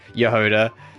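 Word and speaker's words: Jahoda: Not you don't pronounce the J. Yoda.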